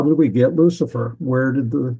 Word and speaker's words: Lucifer: That would be the way it's pronounced in Latin, Lucifer, and it means shining one.